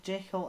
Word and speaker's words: Jekyll: Jekyll and Mr. Hyde, he intended it for it to be pronounced Jekyll? No, because it's meant to rhyme with hide and seek.